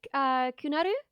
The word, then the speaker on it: KuNarU: Okay, I'm gonna pronounce it wrong. KuNarU.